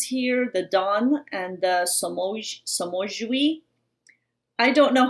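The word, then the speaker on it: Somogyi: Somogi. Somogi.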